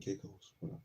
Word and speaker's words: Caicos: Turks and Caicos.